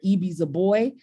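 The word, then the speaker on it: Ibi Zoboi: um in it there is also the author eie z boy um her name is spelled IB i z o bo oi and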